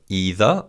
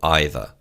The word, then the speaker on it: either: now learn about either either can be pronounced either or either both are correct and either means one